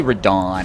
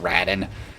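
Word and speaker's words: Radahn: It's actually Radon. I pronounce his name in the most uncool way ever. It's just Radin.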